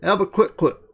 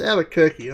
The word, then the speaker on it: Albuquerque: We're off to Albuquerque. It's Albuquerque. Oh, well, Albuquerque. That's how it's spelt.